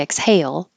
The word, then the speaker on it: exhale: it anywhere so I'll leave it just as a verb with stress on the second syllable like most verbs are every time I exhale I cough exhale thoroughly